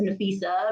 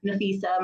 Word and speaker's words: Nafeesah: variations of it so my dad says nafisa my auntie says nathisa my mom says nopeesha so it's real interesting how it can be interchangeable but it's spelled in a s e e s a h and then it's an